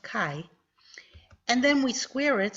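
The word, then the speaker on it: χ: the Greek letter Kai it looks like this an italicized X but it is pronounced Kai and then we Square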